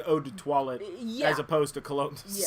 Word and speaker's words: eau de toilette: Well, That's I would call it like eau de toilette as opposed to cologne. Yeah. Say it like an American. Wow, like that was bad. I speak French too. So eau de toilette.